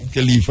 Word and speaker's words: Khalifa: Khalifa is the right pronunciation for the first name.